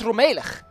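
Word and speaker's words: rommelig: Why isn't it it's Romelik? According to the rules of Dutch, this should be a long e, but it's rum, not rome.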